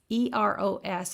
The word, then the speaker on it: eros: of love and the first one is e-r-o-s and that's pronounced eros and eros means a